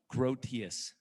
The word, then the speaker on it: Groothuis: And then finally, our really relatively new friend, Doug Groothuis. Did I do it right? Close. What is it? Groothuis. Doug wanted me to let you know that he was not offended by me mispronouncing his name.